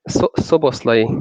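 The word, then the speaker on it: Szoboszlai: How do you pronounce it? Slovaski? Soboslai.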